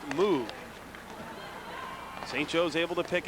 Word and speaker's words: Moog: Moog, spelled the same as Andy Moog of the NHL, but pronounced Moog.